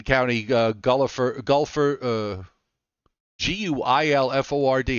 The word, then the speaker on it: Guilford: County New Haven County uh Gulliver golfer uh g-u-i-l-f-o-r-d how do they pronounce that Guilford Milford yes 2.78 Saybrook Manor